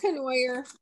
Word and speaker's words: Cornier: Valerie, do you pronounce it Cornier? I probably killed your last name, I'm sorry. It's Cornier. If you were in Canada, you'd say Cornwall, I think. We're in Connecticut, so we say Cornier.